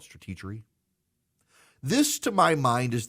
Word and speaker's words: Stratechery: I think most people pronounce it Stratechery, but he wants to call it Stratechery.